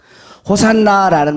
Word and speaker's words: 호산나: 호산나라는 말은 무슨 뜻이냐면 히브리어로 호시아나 이런데 이제 헬라식 발음이에요.